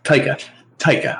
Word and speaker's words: Taika: I read is it Taika? Jesus Christ, I keep getting the director's name wrong. Taika.